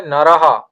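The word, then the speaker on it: নরঃ: তখন এক বচনে হয় নারাহা, দ্বিবচনে হয় নারাউ, বহুবচনে নারাহা। আপনারা আমার উচ্চারণগুলো একটু খেয়াল রাখবেন, আমি কিভাবে উচ্চারণ করছি সেভাবে উচ্চারণ করবেন, কারণ এখানে হ্রস্ব স্বর দীর্ঘ স্বরের ব্যাপার আছে।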